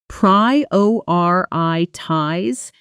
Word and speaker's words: prioritize: Notice the stress pattern. Prioritize, the strongest beat on the second syllable.